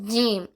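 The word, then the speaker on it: ج: தா இப்ப அடுத்த எழுத்து ஜீம் என்னது ஜீம் தமிழ் எழுத்துக்கு ஜி இருக்குல்ல அந்த ஜி வச்சு இம் போட சொல்லணும் ஜீம் அதே இதுல அடுத்த எழுத்து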